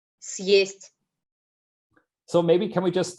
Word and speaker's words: Съесть: means to eat up, which would then be pronounced as Съесть.